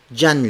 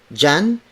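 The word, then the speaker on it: diyan: Zhang Lao Zhang Leung Jan is spelled as d.i.y a and so the d.i.y combination is often pronounced in filipino like the letter j' similar to the letter J so it's John John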